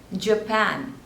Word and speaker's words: Japan: Jamaica next is Japan so two slippers and stress is on the second one pan Japan Japan next is Jordan Jordan